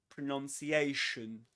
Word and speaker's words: pronunciation: Many people think that as the noun is pronounced or as the verb is pronounced the noun pronunciation is pronounced or is said pronunciation but actually um that is not the case. We say pronounce pronounce on the one hand that's that's the verb and the noun is pronunciation pronunciation.